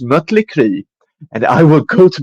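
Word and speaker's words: Mötley: that is actually how if you look look at the uml out in her name it's supposed to be pronounced mutle and I will go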